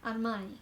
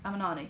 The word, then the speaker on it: Amarnani: Um, wait, I forgot how to say your surname. I don't want to say it wrong. Amani. Amanani. No, Amanani. Right. Amanani.